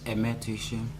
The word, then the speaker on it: Aime Tuyishme: My name is Aime Tuyishme. Can you spell it for us, please?